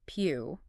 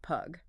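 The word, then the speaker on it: Pugh: in his answer, that his surname is pronounced Pew. He explicitly clarifies that it is not puff and it's definitely not pug which honestly that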